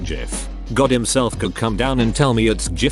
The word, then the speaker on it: GIF: know but Priceless that it's pronounced GIF not GIF God himself could come